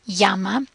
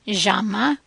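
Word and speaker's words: llama: sound is the a the Double L which is similar to the English y one important thing to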